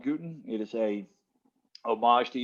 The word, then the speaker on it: Gooten: can find out why we are uh called guten it is a homage to johannes gutenberg and